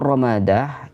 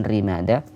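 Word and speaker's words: رمادة: Amur Ramadah ini dibaca dengan ra yang fathah, Ramadah bukan Rimadah, wa takhfifil mim, dan mim yang dibaca takhfif, tidak tasydid, bukan Ramadah tapi Ramadah.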